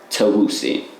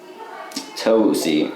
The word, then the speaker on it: Tavoussi: Tell me my full My full name is pronounced Tavoussi. Tavoussi.